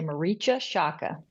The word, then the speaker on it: Marietje Schaake: I'm from the Netherlands it's incredibly hard for anyone non-dutch to pronounce but the English speakers usually say Mara Shaka I do apologize for